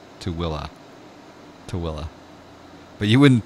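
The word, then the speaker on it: Tooele: to Ellie yeah a smarts that's exactly correct to Willa to Willa but you wouldn't think that with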